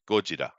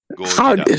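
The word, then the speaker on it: ゴジラ: Gojira. That's how I pronounce it in Japanese. Gojira.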